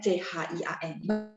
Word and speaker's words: 钱: 全 seluruhnya, 全家钱 uang. Oh, 他很有钱, dia sangat berduit, artinya kaya raya ya. 钱. Jadi pakainya CH ya, QIAN bacanya CHIAN. Bacanya ya, tapi tulisnya QIAN.